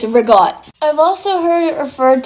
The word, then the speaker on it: ricotta: The same thing applies to ricotta cheese. No, that's not how you say it. It's rigot.